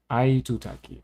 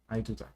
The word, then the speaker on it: Aitutaki: Pronunciation. Did I get it? Yeah, Tutaki. Itutaki. Aitutaki. Okay, Aitutaki.